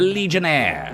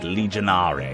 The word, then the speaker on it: Legionnaire: The Legionnaire, some people pronounce it Legionare, and I don't like that.